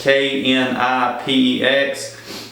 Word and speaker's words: Knipex: It's Knipex.